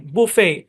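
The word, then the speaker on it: buffet: আচ্ছা, আরো যেসব শব্দে টি সাইলেন্ট থাকে, যেমন ক্রিসমাস, মর্গেজ, অ্যাজমা, সফেন, বুফে। এই শব্দটাকে আমরা অনেকে বাফেট বলি, কিন্তু বাফেট না, বুফে বা বাফে।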